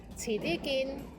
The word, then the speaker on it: 遲啲見: 遲啲見, 遲啲見, 遲啲見.